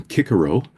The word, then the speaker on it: Cicero: Like Caesar Caesar himself would have called himself Kaiser and Cicero would have been Kickaro.